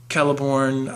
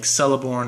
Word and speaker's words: Celeborn: the silmarillion and everything every name that tolkien uh has configured that begins with a c has the k sound um because i remember when i started reading lord rings i pronounced names like uh kelebrimbor or caliborn i pronounce them like celeborn or celebrimbor but um and then